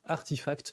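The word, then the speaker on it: RTFKT: coup du studio web rtf cat et qu'on prononce en fait artifact pour ceux qui demander qui des fois ça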